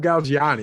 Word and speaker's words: Galgiani: i didn't even say your last name barb gal gianni am i saying i make sure i say